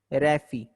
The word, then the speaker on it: raphe: तो रैफी, रैफी का स्पेलिंग है RAPHE, रैफी।